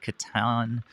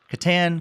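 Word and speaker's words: Catan: bit and also played Katan Katan Katan depending on who who you talk to that I know goes by different pronunciations so I can confidently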